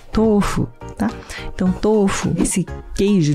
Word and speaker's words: tofu: comum as pessoas falarem tofu tofu às vezes eu falo então full também desde criança todo mundo né japoneses aqui no Brasil né descendentes falam tofu mas a pronúncia correta é tofo tá então topo esse